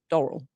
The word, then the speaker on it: Doral: Hotel in Florida or Doral, how do you pronounce it? Doral?